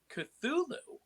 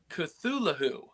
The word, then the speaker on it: Cthulhu: but uh we're talking cthulu or or as I've been told by George Nory who hosts Coast to Coast AM that is actually pronounced cthulu oh you actually pronounce it with the H interesting I thought that